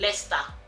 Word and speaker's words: Leicester: as written it would probably be a different pronunciation so let's start is lester all berry is obri so you know everything